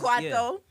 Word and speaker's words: Kwaito: Mapiano, there's, I don't want to say it wrong, Kwaito.